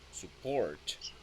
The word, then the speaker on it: support: This is support. Stressed in port.